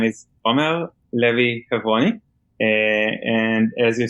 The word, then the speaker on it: Omer Levi Hevroni: so thank you very much so as you pronounce it well my name is om Lev heav and as you say I'm from Israel so